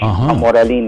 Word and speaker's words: Jamoralin: Gina a hamal hamal j a m o r a l i n o Iyung J niya ano ah pronounced as h jamoralin o jamoralin okay Gina jamoralin oo darating na siya